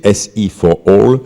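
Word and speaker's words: SE4All: doute qui s'appelle euh il faut le prononcer à l'anglaise pour comprendre c'est si for all ça veut dire sustainable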